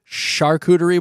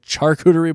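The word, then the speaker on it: charcuterie: I guess it's a shuderie board. It is. Okay. Instead of a charerie board.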